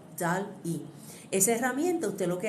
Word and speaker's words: DALL-E: Entonces cuando yo voy a la inteligencia artificial, en este caso, ustedes pueden utilizar una herramienta que se llama DALL-E, se escribe D-A-L-L-E, DALL-E.